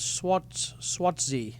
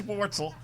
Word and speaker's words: Schwartzel: Charles Swartzy. Is that how you pronounce his name? Nah, not right. Charles Schwartzel, former Masters champion.